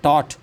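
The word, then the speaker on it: taught: है आपका साइलेंट है टॉट जी एच यह साइलेंट है।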